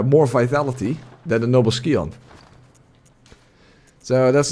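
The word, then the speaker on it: Scion: uh if you uh start as the noble skon that's the right pronunciation skon the noble skon you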